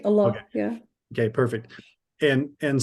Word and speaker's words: Allah: it right what's that you said it right Allah yeah okay perfect and and so she's very